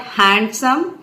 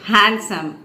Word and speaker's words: handsome: is handsome it's not handsome but handsome D is silent there the sentence is he